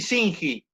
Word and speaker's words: Singi: ¿Se pronuncia bien así, Singi? Sí, perfecto.